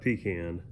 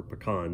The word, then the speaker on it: pecan: stand and i've got a pecan or pecan depending on how you prefer to pronounce it i'm going to put